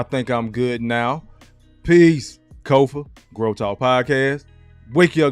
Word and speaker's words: Kofa: the screen k-o-f-a not coffee not Khufu not Kofi or any variation thereof Kofa rhymes with sofa easy to say easy to spell got four watching now